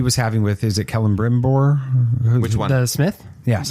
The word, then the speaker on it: Celebrimbor: conversations that he was having with, is it Celebrimbor? Which one? The Smith? Yes. The Elven Smith? Yes, that's Celebrimbor. How's that pronounced? Celebrimbor.